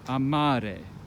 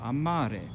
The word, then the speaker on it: amare: Amare, right? You see, the stress is falling on the second to last syllable. Amare.